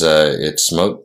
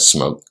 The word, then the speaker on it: Smok: I've just recently found out that I've been pronouncing it wrong. It's Smok, because even the woman I spoke to who was from there referred to it as Smok.